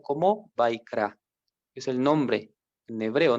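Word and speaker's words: Vayikra: Por eso en el hebreo, digamos, el nombre del libro Levítico se puede pronunciar como Vaikra, es el nombre en hebreo, ¿no?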